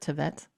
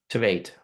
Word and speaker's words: Tveit: Is it that's how you pronounce it? Tveit? Tveit, Tveit.